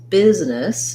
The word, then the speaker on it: business: In business, excuse me, we also have the I sound. We also have first syllable stress. So you'll see the stress marker, the biz, and then this letter E is also going to say a lax I sound because it's a reduced vowel in that syllable. So business is long and short on the nis.